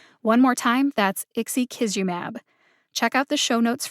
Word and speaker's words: ixekizumab: is provided which makes it super easy to pronounce one more time that's ixi kisumab check out the show notes for the pronunciations